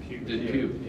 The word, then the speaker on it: Dupuis: And I know that Coach Hughes, Coach Jordan, and Coach Dupuis, how do you pronounce that? Depew.